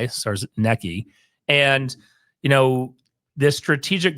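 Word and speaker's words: Czarnecki: there's a new CEO Christopher SARS Nei I think is that how you say it but you're gonna closer than now yeah CZ a r NE C Ki SARS necki and you know this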